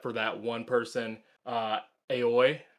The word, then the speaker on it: Aoi: that one person uh aoi i think is her name i think it's pronounced owie yes uh yowie she